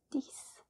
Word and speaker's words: dix: Remember when I said that the X is verbally replaced by an S or a CE. It's the same here. It's pronounced dix.